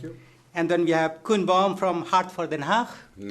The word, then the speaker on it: Koen: And then we have Koen Baum from Hart for Den Haag. Nice pronunciation. Yes. Thank you so much. Yeah, a lot of people pronounce it Cohen-Baum.